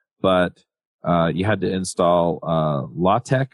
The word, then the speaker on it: LaTeX: you had to install law tech I think is what he calls it it's spelled latex and you have to